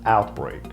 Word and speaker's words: outbreak: And the third word I want to speak about is outbreak. The stress is on the first part.